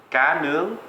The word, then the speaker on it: cá nướng: Cá nướng.